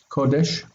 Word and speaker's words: Kodesh: Here in the word Kodesh, I should have marked the accent is here. Kodesh. So if the accent is here, then there are no accents in front, no syllables in front of it.